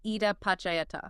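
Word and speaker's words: idappaccayatā: We are unpacking a concept called Ida Pakayata. It is a bit of a mouthful. Pronounced Ida Pachayata.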